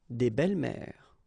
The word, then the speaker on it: belles-mères: Une belle-mère, des belles-mères. Same rule here, S and S, but you don't pronounce it.